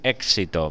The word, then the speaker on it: éxito: Seguro que será todo un éxito. Bien, ya no hay ninguna más, ¿verdad? Sí, éxito. Ah, éxito, es verdad. Son tres sílabas.